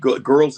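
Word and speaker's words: Grrrls: show called big girls it's big girls it's spelled g-r-r-r-l-s and it's basically lizzo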